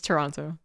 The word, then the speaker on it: Toronto: here you go I refuse thank you it's Toronto actually oh and we're really going off I